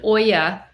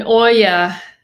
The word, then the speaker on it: olla: Holly grows her celery around an olla. An olla, O-L-L-A, pronounced like O-Y-A, is a clay water